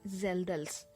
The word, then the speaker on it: Kjeldahl: here you can see k is silent the correct pronunciation is zelda's h yeah this is